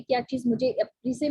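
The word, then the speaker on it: précis: किया था, एज अ प्रिसाइज writer, sorry this is नॉट प्रिसाइज, this is प्रीसे, ठीक है, एक प्रीसे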